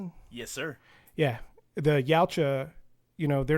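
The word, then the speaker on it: Yautja: The problem again for me is like it reframes the ya. Is that how you say it, Jason? Yes, sir. Yeah, the Yaocha, you know, they're not just this one one-dimensional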